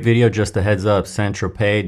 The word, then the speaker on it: Saint-Tropez: Saint-Tropez doesn't rhyme with Lopez.